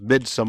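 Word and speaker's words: Midsommar: a second film was mid some or Midsummer depending on you pronounce it and everyone was kind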